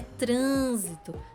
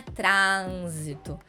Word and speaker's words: trânsito: ir com acento circunflexo a palavra trânsito mesma coisa antepenúltima sílaba mais forte e é trânsito não é trânsito né é uma pronúncia mais fechada então a gente já